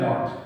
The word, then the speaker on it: nought: अब देखिए इसको बोलते हैं एप्सिलॉन नॉट। क्या बोलते हैं, एप्सिलॉन नॉट, NOUGHT। इसका उच्चारण होता है नॉट।